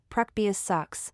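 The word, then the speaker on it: proboscis: tube in the middle called a probos TS pronounced preus sucks a prosus is really two tubes that work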